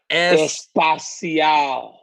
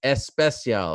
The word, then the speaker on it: Especial: Espacial. You know, I got a call last week from our friend Action Bronson. He said, you're saying it wrong. It's Especial, all right?